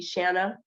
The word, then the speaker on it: Shanna: um everyone calls me Shanna um and I have to make sure I share that pronunciation um Shanna rhymes with banana or Anna so um I just